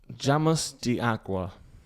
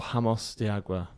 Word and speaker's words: Jameos del Agua: Isn't J a Y sound in Spanish? I thought it was Jameos. I don't know. Doesn't matter. Jameos del Agua.